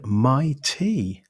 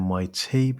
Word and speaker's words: MyT: Welcome on board, MyT. I'm pronouncing it like that rather than MYT because that's how it looks like it's been laid out in its branding.